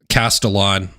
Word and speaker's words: Castellon: It's pronounced Castellon.